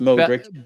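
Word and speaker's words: Modrić: Um, so it's Corttois, Al Valverde, Asencio, Rutiger, Alaba, Modric, Modric, Emma, Modric, it's pronounced Modric, Balingham, Rodrigo, Embi, and Venicius.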